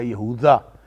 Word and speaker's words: یہوذا: نے اس کا نام یہودا یا یہوذا، یہ ایک ہی لفظ کے دو مختلف تلفظ ہیں، یہودا بھی اس کو کہتے ہیں، یہوذا بھی کہتے ہیں چوتھا یا تیسرے نمبر